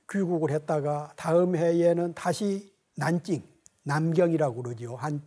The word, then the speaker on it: 난징: 여기서 군사학을 공부하다가 한때 여름방학을 맞아서 잠시 귀국을 했다가 다음 해에는 다시 난징, 남경이라고 그러죠. 한문으로는 남경이고 중국 발음으로는 텐징, 난징, 남경 대학살 사건이 있었던, 거기에 있었던 금능대학에 들어갔죠.